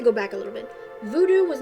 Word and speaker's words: Voodoo: other religion called uh Voodoo or voodu basically americanly pronounced Voodoo um they didn't like